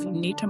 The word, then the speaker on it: Unita: Uh well, first, I'm going to commend you on pronouncing Unita correctly.